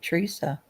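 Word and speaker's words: Treasa: Teresa. So we have two Teresa's now. I thought the other Teresa was T rea, right? But they both pronounce it Teresa.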